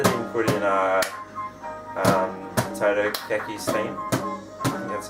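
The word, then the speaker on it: Totaka: surprised that they didn't put in uh um Toto Ki theme that's how you pronounce it Toto Ki theme do you know about that yeah so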